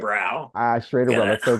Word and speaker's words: Schraderbräu: Yeah, that's Hank Schrader in the show was a home brewer, and he called it Schraderbräu, rhyming with Lowenbrow because we use the